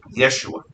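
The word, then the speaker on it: ישוע: But in Aramaic, it's pronounced Yeshua.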